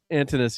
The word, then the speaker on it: Antinous: Antonius or Antinous? Antinous.